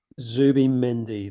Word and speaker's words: Zubimendi: Can I pronounce his name? Zubimendi. Zubimendi.